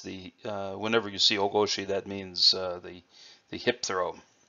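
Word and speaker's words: 大腰: Well, the first character, o, it can also be pronounced tai or oki, but in this context it's o with a long o sound. And that means large or big or major. Koshi or goshi in this context is the word for hip or waist. So o goshi.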